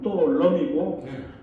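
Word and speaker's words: Tô Lâm: 그 어 또론 여기 아까 또 람이라고 쓸 수 있었데 또 넘이라 쓰십시오 앞으로 그냥 왜냐면 베트남 발음으로 또 럼이 럼은 수풀 림자 그니까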